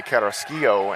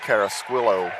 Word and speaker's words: Carrasquillo: forward from verona missouri i want to say carrasquillo and i don't that's not correct it's cara squilo uh according to coach folsom and josh pound the sid